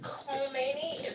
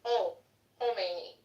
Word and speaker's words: Khomeini: I just want to tell you, it's not pronounced Khomeini. The K silence. It's Khomeini.